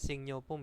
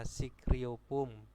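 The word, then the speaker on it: 식료품: sarel yoro singnyopum Buto ini bacanya singnyopum Ya jangan dibaca sik ropum bacanya singum singum but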